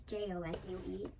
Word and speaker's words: Josue: So he's a Mexican, and so his name isn't spelled like H-O-S-U-E, it's J-O-S-U-E, because J makes the H sound in Spanish.